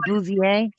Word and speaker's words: Bouvier: Bouvier family? Is that right, Bouvier?